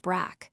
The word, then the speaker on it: Brig: Your nationality, British name, Patrick Carolyn Brig, pronounced Brack.